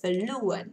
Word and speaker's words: fluent: Từ này là fluent, lên một tí ạ. In English, trọng âm thứ nhất.